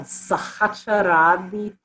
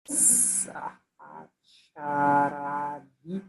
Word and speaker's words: Sahacharadi: One of them is called Sahacharadi Thailam. How do you spell that? Sahacharadi.